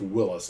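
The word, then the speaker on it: Willys: And I I own a 43 Willies. Uh Willis MB. I've been told it's pronounced Willis, not Willies.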